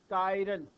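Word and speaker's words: chiral: उसको असमेट भी बोलते हैं इसको आप कैसे प्रोनाउंस करोगे कैसे बोलोगे इसको सीच आई आर ए एल व ू प्रस कायरल and organic Kampa having us semantic carbon इस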